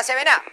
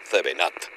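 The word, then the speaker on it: 7 Up: Lo mismo pasa con la 7A, que se escribe 7up y se dice 7A. Se escribe 7up. Se pronuncia 7at o 7a.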